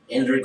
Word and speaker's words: Indrid: I thought it was Ingrid, but it's Ingrid Cole. Indrid Cole. Cole.